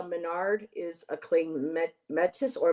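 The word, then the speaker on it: Métis: Um, uh, Andrea Menard is a claim met Metis or Mitus. She's a singer, songwriter, speaker, and founder of the Sacred Feminine Learning Lodge. Pronounced Matey. Matey. Oh, it's Matey.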